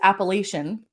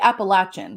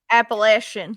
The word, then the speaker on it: Appalachian: I have to know is it is commonly mispronounced as appellation and it's actually Appalachian which I didn't know until I called it appellation yeah me too sometimes that's all that I've ever heard Appalachian like that so they have What's called the